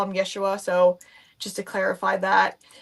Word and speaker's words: Yeshua: From my understanding, it is actually uh pronounced as Yeshua. So, there are times where I like to I prefer to call him Yeshua.